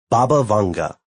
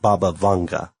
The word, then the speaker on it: Baba Vanga: Baba Vanga, like Baba Yaga, the Russian witch of folklore, but Baba Vanga.